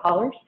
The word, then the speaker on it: hollers: If you look at the word, it's spelled out hollows, but we call it hollers.